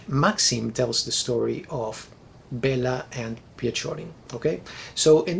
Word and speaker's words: Bela: The first one is titled Bela, and I'm going to go with the English pronunciation here for the title of this story, at least.